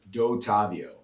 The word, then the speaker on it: Dottavio: and how do you say your last name dot Avio though tavio yeah real Italian there are a